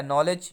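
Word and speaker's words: knowledge: है कि होता है नॉलेज जहां पर किस साइलेंट रहता है ठीक है नॉलेज का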